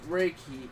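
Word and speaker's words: reiki: like her spirituality rii or what however you pronounce re if I remember correctly it it's raiki yeah she's been going on and on about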